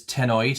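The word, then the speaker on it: cenoid: I've got them here is tennoid. I think it's pronounced. It's got a silent c. So, it's c e n o i d.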